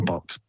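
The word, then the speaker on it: Bochs: But Box is spelled B O C H. B O C H S. His name's Roger Box.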